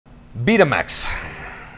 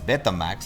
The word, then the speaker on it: Betamax: twice here in Mexico betax for us in Spanish it's betax like the cassette from the 80s uh in English beta Max because you are the